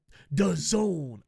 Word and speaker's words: DAZN: international streaming deal with the Zone it's d-a-z-n but it's pronounced the zone and the fact that